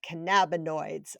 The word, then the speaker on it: cannabinoids: So walking boosts your positive hormones, your endorphins, your serotonin, your dopamine, your I can never pronounce the word, help me, the cannabinoids.